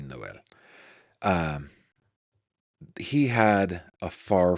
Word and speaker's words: Noel: But Noel here, I keep wanting to say Noel, but it is pronounced Noel. Um, at least according to everybody who's saying it out loud, and in Spanish would be Noel.